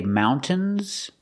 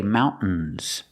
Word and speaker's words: mountains: Use a stop T, mount, and then you fall to the N.